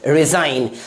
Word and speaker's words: resign: अगला example RESIGN, इसे क्या पढ़ेंगे रिजाइन। तो हम लोगों ने B silent letter, P silent letter, N silent letter,